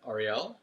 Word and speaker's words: Ariel: all right um so my name is uh Ariel as you pronounce correctly which not all people do um